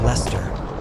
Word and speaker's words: Leicester: Worcester becomes Wooster, Gloucester becomes Glosster, Leicester becomes Lester, Salisbury becomes Salisbury.